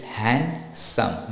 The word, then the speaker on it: handsome: Sayers with handsome it's handsome not handsome so the D is silent in handsome so it's hand and